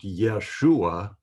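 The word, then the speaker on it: ישוע: So it's now not pronounced Jesus, it's pronounced Yeshua in Hebrew.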